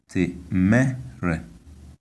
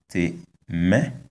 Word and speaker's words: temere: This word is pronounced temere, temere, which means a work in English and un travail in French. We can see that the high tone is on the vowel of the second syllable. So temere, yes, that's the pronunciation.